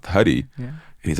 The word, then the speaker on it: Hari: and huie he told me his name was Harry and I was like but it's h a r i and then I'm pretty sure that's the name of God and it's pronounced huie yeah and he's like no I'm Harry I'm